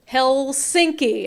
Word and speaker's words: Helsinki: Did anyone correct me on my pronunciation? Yes, they did. Oh, God. I realized it halfway through. Helsinki.